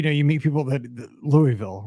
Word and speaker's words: Louisville: you meet people that Louisville right I say Louisville Kentucky no Louisville yeah you know your poser if you say that right if you're not from there because I I try